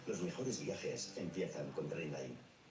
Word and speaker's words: Trainline: Se pronuncia Trainline.